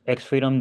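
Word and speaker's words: X3DOM: Xstreetum, pronounced as Xfreedom, is an open source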